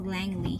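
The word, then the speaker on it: Langley: Alam niyo yung pronunciation pala ng Langle is Langly.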